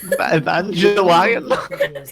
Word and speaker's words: Evangelion: Evangelion.